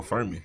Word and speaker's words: Furman: Yo, rhying with kids with the fo rhyming with Sherman or long Charmin. Yeah, that's my name though. Furman.